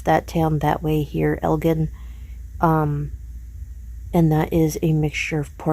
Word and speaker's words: Elgin: We do pronounce that town that way here, Elgin.